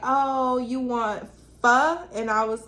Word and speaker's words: Pho: Pho yeah no it's it's spelled like faux but it's pronounced fur yeah I ain't never know that yes girl it's fun so she was like oh you want fur and I was like